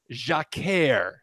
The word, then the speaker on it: Jacquère: The term is jacquère.